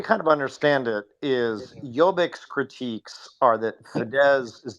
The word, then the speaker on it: Jobbik: Yeah, I just call it jabberick. What was it? Jobbik, Yabber? Jobbik, Jobbik, Jobbik. Okay, yeah, Jobbik.